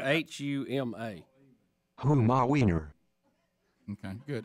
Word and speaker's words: Huma: H-U-M-A. Huma Weiner. Okay, good. I said Huma, and I pray that's correct. Huma. Right, because you would say Weiner. Because P-U-M-A is Puma.